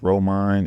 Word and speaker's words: Reauxmonde: you can just find us on Instagram it's rine it's spelled r e a u x m o